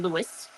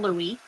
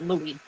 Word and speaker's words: Louis: No, we do not pronounce his name Lewis. His name is not Lewis Armstrong. We call him Louie. Even though there's no E at the end of his name, it's Louie.